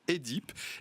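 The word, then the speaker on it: Œdipe: Lorsqu'il y a le O et le E en début de mot, ça ne se prononce pas E, ça se prononce E. Donc quand on dit Écuménique. œsophage, on devrait dire ésophage. Quand on dit Quoi Oedipe, on devrait dire Édipe. Et œcuménique, on devrait dire écuménique.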